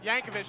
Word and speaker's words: Yankovic: out with Weird Al how do you pronounce that last name Yankovic Yankovic just like you think and we are standing